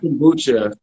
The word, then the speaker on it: Kombucha: Sorry if I'm pronouncing it wrong. Is it Kombucha?